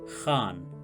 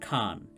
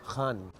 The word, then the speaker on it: Khan: Paradoxically, Shah Rukh Khan in the same film insists that the correct pronunciation of his name is Khan from the epiglottis and not Khan.